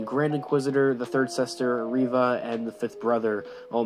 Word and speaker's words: Reva: And yes, I've been pronouncing Reva completely wrong these last couple of months that we've been talking about Obi Wan Kenobi. It's been Reva this entire time, and I've been saying Reva.